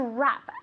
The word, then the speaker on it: wrap: To wrap. As if there were no W, okay?